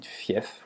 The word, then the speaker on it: fief: F, you pronounce it usually when it's at the end, like in fief, which means it's a serfdom, like medieval region.